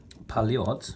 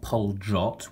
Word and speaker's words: Poljot: officers of all types in those decades now paliotta is the correct pronunciation of the the watch company it's not Paul dropped with a J it's Polly OTT with a